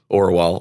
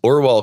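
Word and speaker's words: Orual: Just like the Screwtape Letters, we're not supposed to believe Orwell or Ewell, or however you say her name. They say it Orwell in the audiobook.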